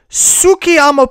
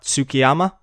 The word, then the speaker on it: Tsukiyama: week of 2016 than Tsukiyama Pond, created by Go Creative. Wow, how did you pronounce that word correctly? What, Tsukiyama? How? You weren't even confused by the T?